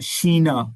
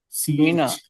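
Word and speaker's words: China: Japan Japan Japan pronounce करना यापान और शीना यह आपने याद रखना है कि यह जब आए तो शी की आवाज निकालनी है। सीना हां शीना शीना आगे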